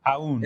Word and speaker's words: Aoun: Is that how you pronounce it? Ayun or Aoun? Aoun.